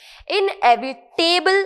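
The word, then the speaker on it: inevitable: इनएविटेबल again नहीं pronounce करना है, क्योंकि टेबल लिखा है स्पेलिंग में, दैट डजंट मीन कि हम उसे टेबल ही प्रोनाउंस करेंगे।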